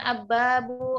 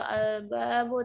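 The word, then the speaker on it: الباب: dibaca di album itu Alif Lam Qomariah jadi albabu jadi jangan ababu atau albabu tapi albabu harus Hai jelas cara membacanya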